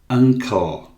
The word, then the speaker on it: uncle: Uncle, não pronunciamos nunca o E final, ou muitíssimo raramente, então uncle termina em L e emendamos o L com o I.